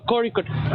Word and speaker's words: Kozhikode: So this one is tricky, right? Because this is the case of, like, a syllable that just doesn't exist in English. Okay. Yeah. That's the ZH. But it's called, Korikut. Kori. It's a very weird sound on the ZH.